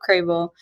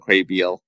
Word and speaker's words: Crabel: the the the default like people usually assume is pronounced Crabiel.